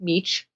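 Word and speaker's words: Mech: D- a v d m c but it's pronounced meech he did this research but what he did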